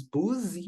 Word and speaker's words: busy: Essa palavrinha aqui nós escrevemos busy, mas a pronúncia é busy.